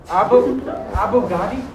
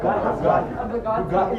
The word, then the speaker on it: Bugatti: Abu Ghadi? No, Bugatti is the car.